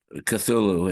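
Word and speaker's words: Cthulhu: consonants pronounceable still uh I think uh cthulu is the way Lovecraft pronounce it and the way everyone does pronounce it but you know Godzilla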